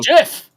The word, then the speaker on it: GIF: It's pronounced Jeff.